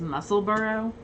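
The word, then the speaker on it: Musselburgh: um i have the someone said it's pronounced muscle burrow muscle bar muscle burrow yeah yeah like edinburgh yeah so i have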